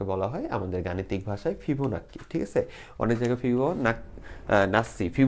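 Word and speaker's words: Fibonacci: এবং এই ধারাকে বলা হয় আমাদের গাণিতিক ভাষায় ফিবো নাক্কি ঠিক আছে অনেক জায়গায় ফিবো নাসি ফিবো নাসিও বলে তো আমরা জাস্ট বাঙালি হিসেবে এটারে নাক্কি নাক্কি করি ওকে তো এটারে এটারে অনেক জায়গায় শুদ্ধ উচ্চারণে ফিবো নাসিও বলে তো আমি ভাই দুঃখিত আমি ফিবো নাক্কিটাই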